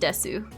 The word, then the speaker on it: Desu: Like Desu is spelled Desu, but it's not pronounced Desu. Ending vowel is silent in a name like that.